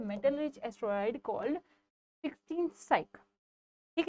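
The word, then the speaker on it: Psyche: Next क्वेश्चन देखिए, 14th क्वेशन है, which country has सेट to launch a spacecraft to study the metal rich asteroid called 16 साइक, ठीक है।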